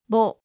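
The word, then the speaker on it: ボ: Ho with a dakten is pronounced bo, ho, bo, ho, bo.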